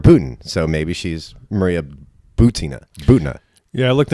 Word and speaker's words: Maria Butina: little controversy this week how do you pronounce her name is it boo Tina or is it boo tainha I've verified that it's a boo Tina oh you have okay after heard a few people say buta not that it made